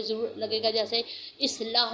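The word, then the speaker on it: إصلاح: अलिफ ज़ेर स्वाद, इस लाम ज़बर केला, इस्लाह।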